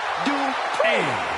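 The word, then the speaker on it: Dupri: Uh, Michael, it's pronounced Dri representing the Alpha Academy from Phoenix, Arizona.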